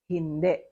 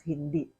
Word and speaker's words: hindi: In Filipino, based on Tagalog phonetics, the sound of I becomes the sound of the short letter E, which is if the I is in the last syllable.